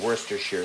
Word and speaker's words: Worcestershire: to the um to the lamb especially some Worcestershire sauce or I should say Worcestershire sauce the joke of mispronouncing Worcestershire sauce is way too common to